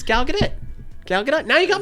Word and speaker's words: Gal Gadot: It's Gal Gadot.